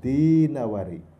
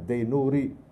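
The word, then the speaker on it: ad-Dinawari: ahli bahasa Arab sastra kalian bacanya Ibnu qutaibah dinawari bukan Ibnu qutaibah Zainuri Hai ada beberapa yang bacanya Zainuri bukan itu yang dimaksud sebelum terhebat di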